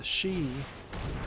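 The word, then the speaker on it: 四: level because for uh she is spelled like the word death or sounds like the word death in Japanese and that's why they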